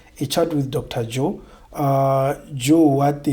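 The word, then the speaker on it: Jzo: Joe what they call it j z o. The z is silent. But it's there. It's j z o. A chat with Dr. Joe.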